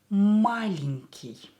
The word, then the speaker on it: Маленький: Маленький. Пишем. Маленький. Маленький. Маленький. Ударение на букву А. А is stressed.